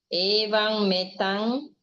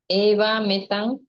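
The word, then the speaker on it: evametaṃ: Eva metang. It is actually one M. It is combined. Eva metang, not evang metang.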